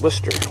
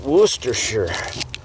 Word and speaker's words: Worcestershire: like a worcestershire sauce worcester and i was corrected and it's worcestershire folks got better way